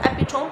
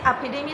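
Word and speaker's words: epitome: तो मैंने आपको डेथ भी बता दिया, जिसको बाज़ लोग इसको एपिटोम पढ़ते हैं, जो कि गलत प्रोनाउंसिएशन है। एपिडेमी इसको पढ़ा जाता है।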